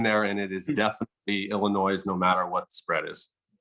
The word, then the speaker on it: Illinois: now because of that illinois do you but do you normally pronounce the s uh i don't know